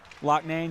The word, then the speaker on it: Loughnane: Great job on pronunciation, too. Loughnane, yep. That's what we learned that tonight. The coach told us as well, so we appreciate that.